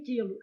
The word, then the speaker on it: quilo: Olha o que está acontecendo em quilo. Esse U é pronunciado? Não.